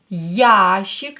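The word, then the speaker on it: ящик: like this instrument of yashik ya is stressed yashik glains trumentov a box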